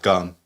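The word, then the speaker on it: cơm: What is the Gum. okay, gum? Yeah. Okay. But it's spelled with a C, but it's pronounced Yeah. with a G.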